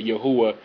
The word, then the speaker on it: Yahweh: my understanding I I I believe that Yahweh is the correct pronunciation